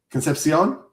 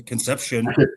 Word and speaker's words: Concepcion: No, you have to say it right. What is it? You have to say it right. Concepcion? I don't know. Is that right? That's right. You got to say a little flavor. You can't do Conception.